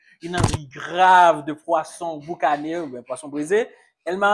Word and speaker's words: boucané: Boucané. Ouais. J'ai bien prononcé ça?